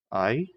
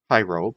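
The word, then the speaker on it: αἴρω: So, iro, not pyro, because smooth. So, iro. Iro. Iro means I take up. I take up. The marker? Iro marker. I took up the marker. Okay, so iro.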